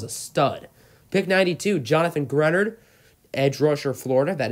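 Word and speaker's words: Greenard: Raiders get themselves a stud pick 92 Jonathan grunted edge rush or Florida that is how you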